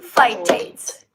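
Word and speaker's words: phytates: Beans have three things that start with an F sound. Okay. Fiber, folate, fiber, fitates. Fitates. So, okay. Interesting, right? They all have two syllables as well, guys.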